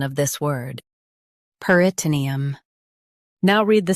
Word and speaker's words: peritoneum: peritoneum Now, read the syllables shown on the screen naturally. per i t nee um peritoneum Stress nee and keep um soft. per i t nee um peritoneum Stress nee and keep um soft.